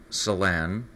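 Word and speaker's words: Celan: their ability it's uh Salon is spelled with the c they're located a few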